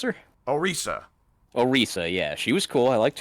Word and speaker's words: Orisa: Let's see, Orisa, how do you pronounce her? Orisa, yeah, she was cool.